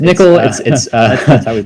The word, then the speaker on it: NCCL: So yes, Nccl is pronounced Nccl.